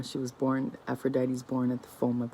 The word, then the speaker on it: Aphrodite: you born today there is a story of Aphrodite who that's how you pronounce it who uh to escape the monster